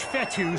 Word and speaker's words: Fetu: So Coach Fetu spelled F-E-T-U. For the longest time, I was pronouncing it Coach Feta, like fettuccine.